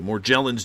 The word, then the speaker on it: Morgellons: Charles E Holman Morgellons or more gel ins maybe I'm pronouncing it wrong we'll go with soft G because they're going with the soft G more gel ins disease foundation this is